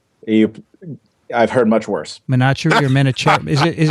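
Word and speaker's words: Vineet Menachery: pronounce it terribly you i've heard much worse menachem or menachem is it is it manicherry right manatee thank you i completely understand mispronounced names as you might imagine this episode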